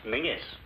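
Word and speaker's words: Menzies: The King's English and Men is just pronounced mingis why well don't ask me it just is in that case why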